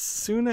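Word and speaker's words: Senua: Hey man, I've been mispronouncing your name. It's Suna, S-E-N-U-A.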